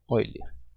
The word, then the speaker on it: Euler: Escreve Euler e pronuncia Euler.